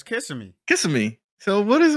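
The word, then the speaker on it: Kissimmee: we'll be out there how is it pronounced it's not kissing me you can see me kissing me yeah it's kissing me kissing me so what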